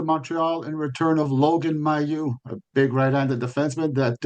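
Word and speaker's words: Mailloux: the the French media in particular it was mayu because m ai ll like it's you know the French pronunciation is my but I did ask him personally uh they pronounce it Mayu.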